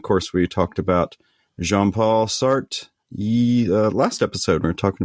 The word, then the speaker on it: Sartre: So the French teacher at my school says Sartre is fine, but technically it's Sartre, but Sartre with a French accent, which I cannot reproduce.